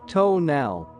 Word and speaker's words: tonal: Mexico I knew that the tonal pronounced tonal was thought to be a